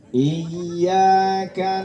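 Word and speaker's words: إياك: wa i I nah ini hati-hati ya Bu sekarang ini orang banyak yang memanjangkan huruf Kaf ketika dia membacakan ayat kelima surah Alfatihah ya I dipanjangin kadang-kadang ada yang seperti itu ya merasa benar aja tapi Padahal di situ Ee tidak ada huruf Kaf yang panjang kadang lebas itu juga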